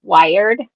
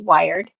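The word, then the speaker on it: Wiard: Her last name is Wired. W I A R D. Wired. Like wired to a telephone pole.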